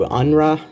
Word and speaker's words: UNRWA: All of your donations today are going to UNRA. Yeah, it's usually how it's pronounced.